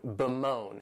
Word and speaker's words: bemoan: The next verb is to bemoan, and this verb has two syllables and the stress is on that second syllable, moan, bemoan.